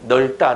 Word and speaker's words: 넓다: 그러면 널이야 넙이야? 그렇지. 널로 발음해야지. 넓다 넓고 넓지 이렇게 그렇게 발음해야 됩니다.